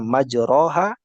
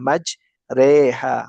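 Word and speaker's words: مجريها: Ya, kita ganti bacaannya majroha dengan bacaan sesuai dengan tuntunannya adalah majreha wa mursahab.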